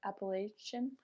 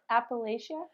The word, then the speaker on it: Appalachia: people from Appalachia appal Appalachia so for I so I think there's lots of different ways it gets pronounced okay I think if you're from the area you might pronounce it Appalachia um I like that